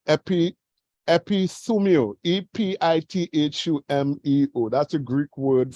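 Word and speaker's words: ἐπιθυμέω: Now, in the Greek, it is pronounced epithumio, E-P-I-T-H-U-M-E-O.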